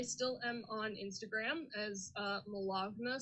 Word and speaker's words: Malagna: I still am on Instagram as Malagna, spelled like baloney, but with an M and a 0.